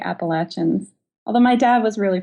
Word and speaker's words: Appalachians: that's in my bones how do you say the mountains down there the mountains well the hills and the hollers and the the the Appalachians or the appalachin the app oh the appalachin I say appalachin although